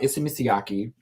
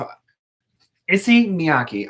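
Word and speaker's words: Issey Miyake: nick brought up um issa mitsuyaki if i see miyaki i'm so sorry i had so many extra syllables uh who's a very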